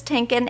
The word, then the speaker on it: Tienken: want to welcome to the show um tinkin and am I pronouncing your last name correctly yes you are